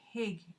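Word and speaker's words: hygge: Apparently, they pronounce it differently. The H sound and the Y sound. Yeah, it's like your Y sounds like a diphthong for us, which is 2 letters together.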